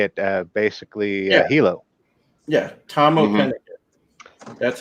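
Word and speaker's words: Tamoh Penikett: Yeah, Tomoa Pennicott.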